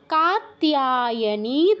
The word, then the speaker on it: কাত্যায়নী: ষষ্ঠম কাত্যায়নী তথা, কাত্যায়নী তথা, এই তিয়া কাত্যায়া বা তেয়া এরকম কিছু বলবো না, কাত্তিয়া, তিয়া কাত্তিয়া, কাত্যায়নী তথা। তারপর সপ্তমং কালরাত্রিতি, অনুসারের জায়গায় ঙ হসন্ত, সপ্তমং কালরাত্রিতি, মহাগৌরীতি চাষ্টমম, মহাগৌরীতি চাষ্টমম।